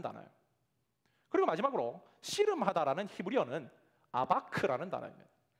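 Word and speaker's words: אבק: 그리고 마지막으로 씨름하다라는 히브리어는 아바크라는 단어입니다.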